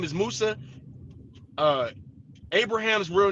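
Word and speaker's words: موسى: So, so Yakob is is how his name was pronounced during the time of his life. When we talk about Musa, not Musha, Musa, his name, his name is Musa.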